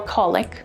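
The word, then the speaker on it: qulliq: t-r-a-n-q or tranq u-m-i-a-q or yumiac q-u-l-l-i-q or colic q-a-m-o-t-i-q or kamote thanks so much for checking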